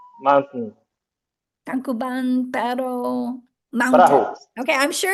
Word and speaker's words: Tangkuban Perahu: How do you pronounce it, Patrick? Well, it's Tangkuban Perahu Mountain. Tangkuban Pero Mountain.